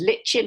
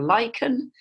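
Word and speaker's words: lichen: food in the wintertime is LIN or lyen you can you can pronounce it whichever let way you like and um this grows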